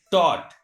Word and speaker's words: taught: If at the last of any word GH or GHT is found, in that condition GH is silent.